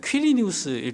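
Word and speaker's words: Quirinius: 근데이 구레뇨 뭐 그 원래 발음을 하자면 큐리니우스일 거예요.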